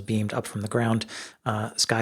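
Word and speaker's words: Sceye: This airship maker is called, I think, pronouncing it Sky, S-C-E-Y-E, Sky.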